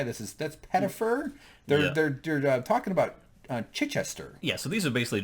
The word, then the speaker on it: Chichester: desk to deal with Chichester or Kitchester. Kitchester. They kind of pronounce it Kitchester.